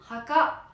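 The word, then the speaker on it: 墓: Eh bien écoutez, chose voulue, chose due, je vous l'offre, c'est cadeau, ça se dit Haka. Haka, ça s'écrit comme ça.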